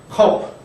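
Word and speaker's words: כ: 우리말 키읔과 같은데 점이 있는 카프가 또 키읔 발음이었죠. 그러니까 그 같은 발음이라고 보시면 됩니다. 컵.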